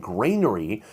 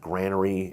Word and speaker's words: granary: And when I've said grainery, people in the comments have said, "You're saying it wrong. It's granary." Now, all the archaeologists I'm affiliated with have always said granery.